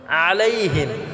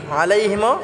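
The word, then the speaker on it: عليهم: চাপ দিয়ে উচ্চারণ করব আলাইহিম আলাইহিম আমরা গলায় চাপ দিয়ে উচ্চারণ করব এবং হিমটা আমরা খাটা করব এটা টান করা যাবে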